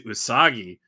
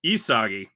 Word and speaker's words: Isagi: But this time the monster told him to pass the ball to Usagi. I said it wrong. Isagi.